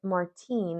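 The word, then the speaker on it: Martín: an American styled name not when you pronounce it Martin and roll your RS like a fancy Spaniard Martin Martin Papa Pedro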